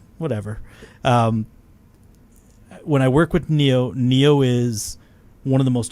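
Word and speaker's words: Niyo: When I thought work it was with John Nio. Is it Neo?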